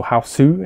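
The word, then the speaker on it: Hausu: nobuhiku obayashi it's house so how su is the italian japanese pronunciation of the film this is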